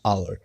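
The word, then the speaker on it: hour: थोड़ा सा ध्यान रखना है, N portal, an honest, N honourable person, an आवर, इन सभी का जो एच है ये साइलेंट होता है।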